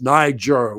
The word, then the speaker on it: Niger: uh Niger in Africa some people pronounce it like the nword but it's Niger with one letter N but yes so that's